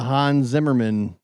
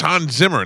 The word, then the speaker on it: Hans Zimmer: Hans Zimmer. That's Yeah. different. Remember, we had the Hans Zimmerman It's Hans Zimmer, not Show.